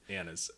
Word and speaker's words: anise: It's pronounced anise.